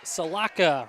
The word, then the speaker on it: Salaka: It's Salaka, Ralphie Salaka. Selaka, so like Sel? Salaka.